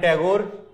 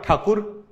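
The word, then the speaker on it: Tagore: Rabindranath टैगोर, sorry RN टैगोर, और ठाकुर, जो भी कह सकते हो. टैगोर इज the pronunciation that was used by Britishers और बाद में वही यूज किया गया. ये ठाकुर थे.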